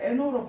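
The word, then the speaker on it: know: GNO가 알다라면 여러분 좀 어색할 수 있는데 여기에 G를 NO로 바꾸면 이 하고 당연히 알겠죠. 여러분 no 할 때 K가 묵음이잖아요.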